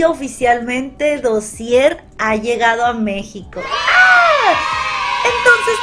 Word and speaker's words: Dossier: Es que bueno, en sí, si se pronuncia en francés es Dossier.